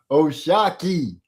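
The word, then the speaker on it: O'Shaquie: She la said yeah it is what old boy said but then the gang said bro no his name is pronounced Oshaki.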